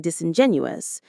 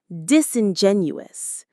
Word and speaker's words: disingenuous: You were being disingenuous. You are pretending not to know the truth. Let's pronounce it. Disenguous. Disingenuous. It's a longer one. The main stress is on Jen.